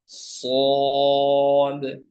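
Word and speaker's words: صاد: এটির নাম শিন শিন শিন এরপরের এটির নাম সদ সদ এটি সদ আচ্ছা এই হরফটি বলি হ্যাঁ অনেকেই কি উচ্চারণ করেন সোয়াদ হ্যাঁ ওয়া এর সঙ্গে ওয়াও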